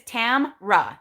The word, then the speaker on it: Tamra: My name is Tamra, just so you guys know. There is no A, E, or whatever in the middle.